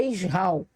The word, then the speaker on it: Israel: filhos de Isra tá Israel aqui mas a pronúncia correta é isral e eu os abençoarei